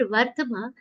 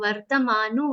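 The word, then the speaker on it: वर्त्म: When the pronunciation comes, many people end up reading this shlokas as Mama Vartamanu Vardante. It makes no sense. Vartama. That the has to be half.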